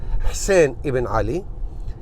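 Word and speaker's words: حسين بن علي: Ali, Hussein bin Ali, as you pronounce it in Arabic, in real Arabic Hussein Iban Ali.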